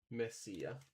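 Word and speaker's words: Mesilla: Yep, yeah, the Hispanic pronunciation. Yep. Messia.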